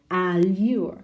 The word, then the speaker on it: allure: Allure, no? It's on the second, no?